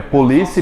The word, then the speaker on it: polícia: É polícia e policia, você mudou a posição da sílaba tônica. Você, polícia, paroxítono, você deixou o oxítono.